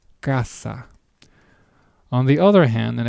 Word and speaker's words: casa: An example word for the pronunciation with the K sound will be the word casa, which means house. Once again, kasa.